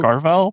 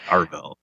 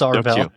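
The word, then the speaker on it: Arvell: I guess I pronounce it Carval. Nope, it's Arvel. Sorry. Yeah, there's no A. There's no Q. It's just it's Arll Reese.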